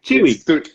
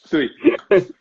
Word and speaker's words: Ptuj: So Tui. Tui. So, for people who don't know, that's spelled Ptuj. Yeah. There's no E in there, but you still say the sound E.